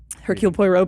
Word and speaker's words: Hercule Poirot: How do you pronounce his name? Hercule Poirot.